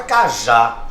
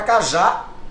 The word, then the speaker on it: cajá: por exemplo a palavra Cajá já já eu vou para regra tá a palavra cajá é uma palavra dissílaba tá aí pra gente